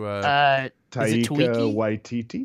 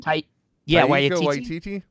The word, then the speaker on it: Taika Waititi: I don't know how to pronounce his name. Trent, do you? Taika Waititi. Taika Waititi.